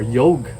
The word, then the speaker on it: yoga: dharma for dharma, or karm for karma, or yog for yoga, or asan for asana. A little bit of interesting knowledge: when you're actually speaking, when we speak Hindi or Sanskrit, we don't actually pronounce the A.